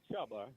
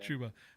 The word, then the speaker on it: Chubba: Is Chuba Purdy, right? Is that how I pronounce his first name? Yeah, Chubba. Chubba, that's right. Not Chuba.